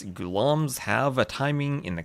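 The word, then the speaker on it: Ghulam: Gulam. I was told I was told that it's the second syllable that needs to be emphasized.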